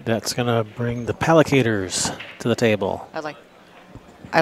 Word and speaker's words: Palac8ers: All right, that's gonna bring the Pallicators to the table. I like that name, Pallicators. We were told it's pronounced pallicators like alligators.